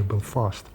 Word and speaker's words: Belfast: Not Belfast, by the way, Belfast.